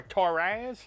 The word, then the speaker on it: Torras: This time, I will be reviewing the Torras, or Torras, however you want to pronounce it.